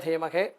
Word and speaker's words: ധീമഹി: സനൽകുമാരായ വിദ്മഹേ ഷടാനനായ ധീമഹേ തന്ന സുബ്രഹ്മണ്യ പ്രചോദയാൽ അല്ലെങ്കിൽ തന്ന സ്കന്ദ പ്രചോദയാൽ, ഈ രണ്ട് രീതിയിൽ ഈ മന്ത്രത്തെ ഉച്ചരിക്കാറുള്ളത്. ധീമഹി എന്നും ധീമഹെ എന്നും വ്യത്യസ്തമായ ഉച്ചാരണ സമ്പ്രദായങ്ങളുണ്ട്.